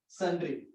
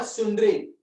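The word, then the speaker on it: sundry: हो, better to right सन्ड्री। इट्स नॉट सुंदरी, इट्स अ सन्ड्री, है ना, बच्चे क्लास में बोलते हैं सुंदरी सुंदरी, इट्स नॉट अ सुंदरी, इट्स अ सन्ड्री। Pronunciation क्या है? सन्ड्री मतलब मोर देन वन, रैंडमली।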